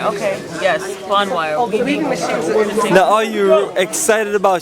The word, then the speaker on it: Bonwire: in a k v a k weaving Village pronounce the name b Bon wire Bon wire okay yes Bon wire now are you excited about shopping today I'm